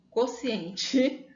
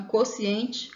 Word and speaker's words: quociente: Nesse caso, o U não soa. Então, quociente, cota, cotizar, cotidiano. Muitas vezes a gente pronuncia com U justamente para tentar identificar a diferença, mas a pronúncia em si mesmo é só como se o U fosse mudo, né? Como se ele não existisse.